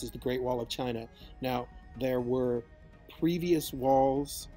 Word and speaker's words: Qin: finish our discussion with the chin which is of course where the name China comes pronounced chin he was not necessarily